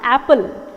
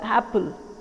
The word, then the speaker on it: apple: Apple a for Apple it is wrong it's not Apple it's actually the stresses on the first syllable Apple Apple a for Apple